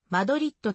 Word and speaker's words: マドリード: 入っパン的なスペイン語では語末の d がほとんど発音されないためマドリーとの表記もしばしば用いられている英語等の